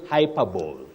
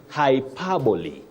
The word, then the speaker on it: hyperbole: or university level and please don't say hyperbowl hyper bow for exaggeration or exaggeration avoid that you say hyperbole hypoy not hyper you also say epy